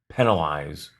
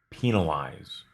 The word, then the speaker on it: penalize: referee or a judge this word can be pronounced with a short e or a long e sound in the first syllable penalize or penalize the player was penalized